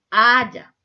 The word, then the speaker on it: haya: Aiga. No se dice aiga. ¿Cómo se dice haya?